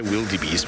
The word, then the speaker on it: wildebeest: Wildebeest is how you should be saying, which is an Afrikaans word. So you can't say a wee sound like we would in English.